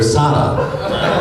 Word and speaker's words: Sala: named Sarah, S-A-R-A, but her parents kept calling her Sala because of the accent. And so she decided to spell it the way her parents called her.